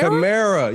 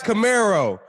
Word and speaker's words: Kamara: - Kamara! You say it like Camaro!